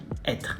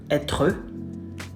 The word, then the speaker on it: être: Do not pronounce the final E in French. So être. Not être. Être.